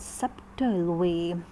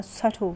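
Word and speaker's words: subtle: और द सबटल वे या सटल वे, इसमें बी साइलेंट भी आता है.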